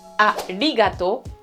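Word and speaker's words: ありがとう: ne te comprendront pas, c'est bien onigiri, arigato, une espèce de R tout petit peu roulé. Si tu n'y arrives pas, il vaut mieux le prononcer comme un L.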